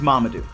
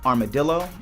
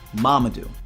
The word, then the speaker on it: Mamadou: My name is Mamadou, not Armadillo, not Marmaduke, not, not, Mamadou.